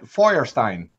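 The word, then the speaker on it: Feuerstein: no in Germany Fred Flintstone is called Fred Firestein that's how yeah that's how you pronounce it in and that's his last name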